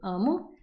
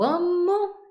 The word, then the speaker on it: amo: de vous dire que c'est toujours l'avant-dernière syllabe qui est la syllabe forte. Donc, eu amo, eu gosto, eu estudo.